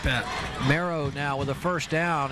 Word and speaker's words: Morrow: I think it's pronounced Marrow. Yeah, Marrow. Okay.